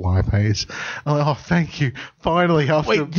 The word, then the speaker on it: lipase: chemistry hearing he hears oh you know lit maze-like no it's lipase I pay he tell